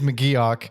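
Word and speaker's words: McGeoch: to point up his name is actually not pronounced muuch I didn't think it actually was no we it's much funnier to call him muuch than Mok it is Mok I didn't know that at the time but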